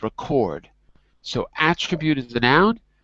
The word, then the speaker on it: record: When you have a noun, it's a word like record. When it's a verb, we switch it and it's record.